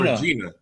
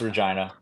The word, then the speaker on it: Regina: following year in Regina Saskatchewan I thought it Regina no it's Regina it's pronounced Gina wow because it's it's weird from